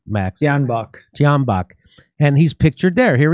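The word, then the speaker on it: Tyahnybok: The C-14s was started as a youth wing of the Svoboda party founded by Ole Tenahambak. Is that how do you say his name, Max? Tianbach.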